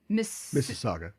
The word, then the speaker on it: Mississauga: based in uh i'm going to try to pronounce this correctly uh masu mississauga mississauga thank you a city west of toronto